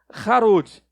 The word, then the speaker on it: Harod: Em hebraico seria Harod. E essa palavrinha Harod é quase idêntica, mesma raiz, só muda a pronúncia, de uma outra palavrinha que é Hared.